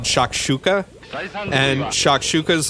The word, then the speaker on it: shakshuka: of cumin and paprika and stuff like that shakshuka it's spelled sha ok wait now I have to